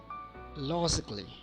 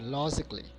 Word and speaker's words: logically: So here A is silent.